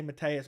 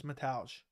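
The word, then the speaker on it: Mateusz: Metals camera I mean I always say it wrong I want to say Matthias but it's metage I think Dana would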